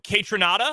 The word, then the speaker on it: Kaytranada: Chemical Brothers okay can I interest you in kaytranada is that how you say it yeah that's